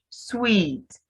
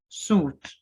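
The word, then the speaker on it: suite: sweet so you know this kind of apartment it's not suit this is sweet then owl owl just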